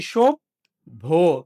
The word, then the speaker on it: সভ্য: তো উচ্চারণ যখন আমরা করি খেয়াল করে দেখো দুটাই কিন্তু আমরা বলিনি সভ্য। এটা বলিনি। আমরা বলেছি সব ভো।